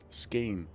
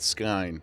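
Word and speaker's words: skein: Scain. I think I've always pronounced that skine, but SC probably is more correct.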